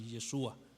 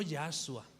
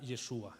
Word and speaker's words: Yeshua: Pero bueno, normalmente lo más común es que se le nombrara así Yeshua, no Yahshua, por cierto.